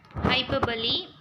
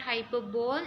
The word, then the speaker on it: hyperbole: Hyperbole, it is not hyperbole, we have to pronounce it as hyperbole.